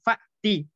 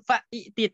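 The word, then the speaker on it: فأت: Namun hamzah kedua itu biasanya disatukan dengan hamzah pertama dalam pengucapan ketika setelah huruf wawu dan fa menjadi wa'ti dan fa'ti. Bukan wa'iti dan bukan fa'iti, tapi langsung disatukan wa'ti, fa'ti.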